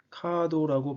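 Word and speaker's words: カード: 알파벳과 한글은 카드라고 발음합니다 일본 글자는 카드 대신 카도라고 발음하죠 앞에서 말씀드렸다시피 알파벳과 한글은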